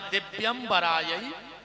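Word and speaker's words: दिव्याय: शुद्ध उच्चारण है दिव्यराय च दिगंबराय और आदमी जल्दी जल्दी में बोलत है दिगंबराय च दिगंबराय दोनों बार दिगंबर दिगंबर कहता है ये मंत्र है माता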